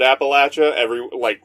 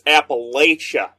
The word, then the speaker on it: Appalachia: Yeah, Appalachia, which even the pronunciation of that word, like the people from Appalachia pronounce it Appalachia. Anywhere else is like, it's Appalachia. There's an I in there.